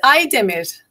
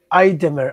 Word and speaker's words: Aydemir: My last name is Aydemir. Aydemir.